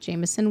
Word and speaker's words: Jamison: I am Jameson music Jamison with an i so said like the whiskey but spelled like my name that tagged in our